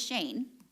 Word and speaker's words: Shane: So how do you say, is it Cheyenne or Cheyenne? It is Shane, okay.